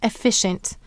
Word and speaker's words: efficient: The first syllable is F, F. The second syllable is fi, I. And the third syllable is shent, sh, n, t.